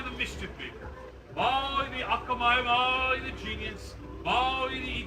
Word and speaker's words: akamai: He was also known for being very akamai. Yeah, we did this one too. And hold up, repeat after me. Akamai.